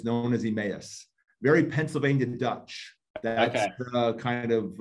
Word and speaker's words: Emmaus: emmaus back in the day they call the emas but it's called it's known as emmaus very pennsylvania dutch kind of uh that area